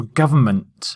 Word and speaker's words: government: like this and also government now we say government but there's actually an N hiding in the word and the word government